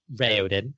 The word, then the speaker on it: Raoden: Raoden, which is the correct pronunciation.